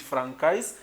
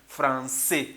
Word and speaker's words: français: You should not pronounce it francais, you have to pronounce it français, and it is written like that.